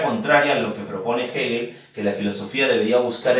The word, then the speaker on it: Hegel: Ya se escribe eel, se pronuncia Hegel.